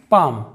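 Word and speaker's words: palm: Example देखते हैं, पाम। पाम का मतलब होता है हथेली, तो यहाँ पर एम के पहले एल साइलेंट है।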